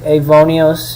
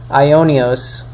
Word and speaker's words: Ionios: the compiler check out avonios in the video on ivonios because uh it's ionios I'm sorry I keep pronouncing it wrong ionios uh read uh and